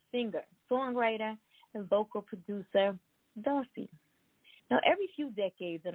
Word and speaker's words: Dossi: guys like most singers darcy pronounced like bossy grew up singing her